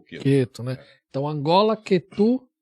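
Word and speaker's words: Ketu: Pai, eu só queria se eu respondesse, a pronúncia certa é Quetu ou Queto, como todo mundo fala, Quetu, né?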